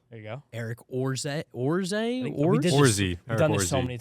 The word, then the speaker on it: Orze: you go Eric orzette orze I've done this so many times I think his pronunciation's on it it's orzy okay Eric worzee he is